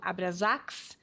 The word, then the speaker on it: Abraxas: a casa dos abraxas às vezes eles pronunciam Abras né independendo da pronúncia mas aqui em português nós vamos falar abr a b r a x a s e é o maior